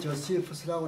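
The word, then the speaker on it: Josephus: 어려울 때는 플라비우스 요세푸스라고, 플라비우스 요세푸스 영어 발음은 조세프스라고 그래요. 조세프스. 액센트가 두 번째 있어요.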